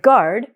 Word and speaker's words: guard: If I was to write the word guard, I would write G-A-R-D.